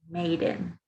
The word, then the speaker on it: made in: plus the place and the pronunciation here is Maiden Maiden moving on let's